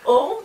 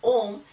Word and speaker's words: Om: So this Om is one word which represents, okay, the Ishvara. It has 3 syllables, A, U and Ma, okay?